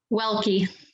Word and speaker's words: Welke: how do you say your last name welke well keep coming to us from grand forks